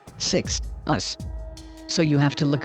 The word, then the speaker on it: Sixtus: this means sixth because the word six along with the t as in sixth is literally its first syllable followed by the latin suffix us pronounced us thus the word 6 us so you have to